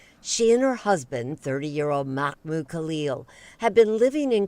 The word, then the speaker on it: Mahmoud: It's Mahmoud, not Mohammed.